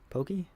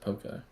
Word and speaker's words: poke: You know, kind of like ruining California's reputation by saying poke instead of pokey or pokey.